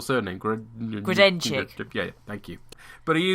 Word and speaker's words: Grodenchik: It's Sovak, but he's played by Mac's unpronounceable surname. Grodenchik.